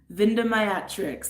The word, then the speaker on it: Vindemiatrix: Vindimayatrix. Some of these names are just very long. Vindimayatrix. That's what I'm gonna say is how you pronounce it. It's spelled Vindemiatrix. That's how it's spelled.